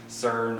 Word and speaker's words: CERN: is demons now, because this CERN or Kern, there's different ways to pronounce it, open.